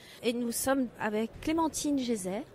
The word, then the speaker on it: Geiser: nous sommes avec clémentine geyser je prononce bien votre nom gaiser en fait c'est d'origine suisse allemande voilà donc clémentine gaiser qui va nous parler